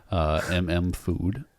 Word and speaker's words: MM..FOOD: So this record, Food, MM Food, if you want to pronounce it that way, is it came out the same year as Mad Villainy.